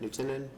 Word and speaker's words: Knutson: William Knutson, is that we pronounce it, Knutson? Yes, actually, it's one of his former associates that's conducting our audit.